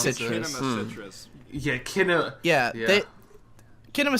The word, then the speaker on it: Kinema Citrus: Cinema Citrus or however you Kinema pronounce Citrus. it. Kinema Citrus.